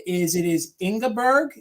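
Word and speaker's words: Ingborg: is it is ingberg it's ingberg and it's spelled i n g b o r g it's ingberg which is very German inberg which would be very um it would be correct for to be a Pennsylvanian person I see is Sarah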